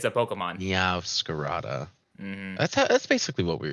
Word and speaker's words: Meowscarada: How do you pronounce it? Meow Scarata. It's a Pokemon. Meowscarada.